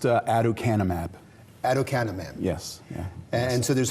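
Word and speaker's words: aducanumab: to be able to pronounce it so it's pronounced adoc canap adoc canap yes yeah and so there's hope for that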